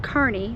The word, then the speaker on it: Kearney: It's pronounced Kearney, not Kearney.